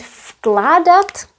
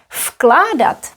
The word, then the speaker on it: vkládat: Vložit pronounced as vložit, vkládat pronounced as f. Why? Because of k. K is voiceless, so v will be voiceless too.